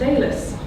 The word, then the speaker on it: Alys: Because actually my name's pronounced Alice.